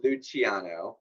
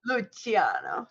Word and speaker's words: Luciano: It's not spelled the same way that it's pronounced. There are C's, not CH's. Although the proper pronunciation does actually have the CH sound.